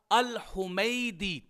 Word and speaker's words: الحمیدی: کے نیچے کسرہ آئے گا۔ تو اب یہ تلفظ کیسے ہوگا؟ الحمیدی۔ یہ بات ذہن میں رکھیے کہ الحمیدی بھی